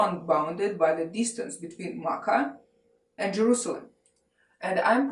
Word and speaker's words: Makkah: journey therefore also unbounded by the distance between Makkah and Jerusalem and I'm pronounced in Makkah it could be also pronounced Mecca but if you google it you would get